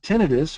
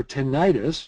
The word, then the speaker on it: tinnitus: the first one there tinnitus or tinnitus you can use either pronunciation that you want to is that situation where